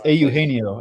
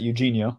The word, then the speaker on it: Eugenio: name please please it's aano actually Ben it's not Eugenio it's AU D you Ben the G is pronounced as an H folks wait well